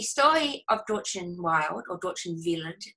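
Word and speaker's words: Dortchen Wild: of dorchen wild or doctrine villain as her name is pronounced in German it's spelt wild and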